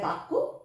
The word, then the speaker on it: বাক্য: যায় ইয়া উচ্চারণ করে কিন্তু বাংলায় আমরা সেই বর্ণটাকে একটু জোর দিয়ে উচ্চারণ করি বাক্য আবার ঠিক সেরকমই